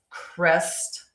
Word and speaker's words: Kryst: Um but we are going to continue to talk about um cris. It's supposed to be like Christmas how that word would be pronounced. and spelled K R Y S T um when we